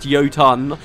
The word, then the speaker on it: Jotun: I swap all the time but the Jan pronounced yotan are the last remnants of an ancient Society